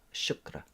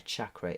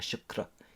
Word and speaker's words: chakra: points on the body shukra that's the way you're supposed to pronounce it by the way I saw a video of a an Indian lady G very cross saying a chakra isn't a thing a Shakra is a thing paying attention so these